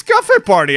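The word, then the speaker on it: Café: You pronounced it calf, as in a small cow. Decaf. Because for us, cafe is coffee. So yes. I say it like coffee. In Portuguese, yes. Obviously. Yeah, cafe. That's what it is, huh? The cafe, it's not cafe. Because it has a tilde in the end, I think.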